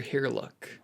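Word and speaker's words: Hiriluk: Herlock. I think I'm pronouncing that correctly.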